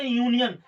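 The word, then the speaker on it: union: कुछ कंडीशंस होती हैं जैसे यूनियन, गाइज इसमें यू आया, यू हिंदी में जो उच्चारण है उसका यू आ रहा है, तो यू जो यू आ रहा है उसको यू को हम जो है बॉबिल नहीं मानेंगे। गाइज यहाँ पे जो इसका जो प्रोनाउंसिएशन है वो हमारा या वाला यू शो कर रहा है, इसलिए पहले इससे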